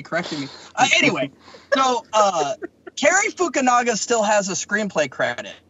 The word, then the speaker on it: Fukunaga: Cary Nicaragua. I was gonna say it wrong too. But that joke totally got blown out of the water, so thanks for nobody correcting me. Anyway, so Cary Fukunaga still has a screenplay credit.